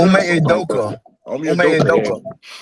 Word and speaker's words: Ime Udoka: Omi Adaka. Ime Udoka.